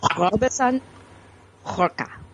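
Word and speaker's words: Robson Rocha: It's Robson Roca.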